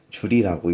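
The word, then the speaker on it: joule: 영어로 쓰면은 W는 Fs, 단위는 J고 줄이라고 읽습니다.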